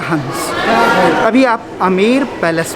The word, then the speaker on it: Amer: आमेर या आमेर चीज़ दोनों एक ही है। ब्रिटिशर्स जब आए तो ये B word become silent, so sound comes आमेर also, आमेर also.